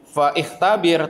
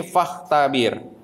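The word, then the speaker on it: فاختبر: ini juga lima ikhtabaro Bacanya jangan Fa ikhtabir Tapi faktabir kalian lihat contoh yang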